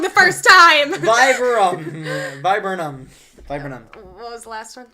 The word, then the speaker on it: viburnum: So is this a stalk, Stephanitis, viburnum, or a wax flower? Or a what? A wax flower. Just say the second one again. It looks like vibranium, but That it's sounds like a verbinum.